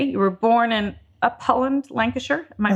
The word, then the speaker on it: Upholland: As they say, you were born in Upholland, Lancashire. Am I pronouncing it properly?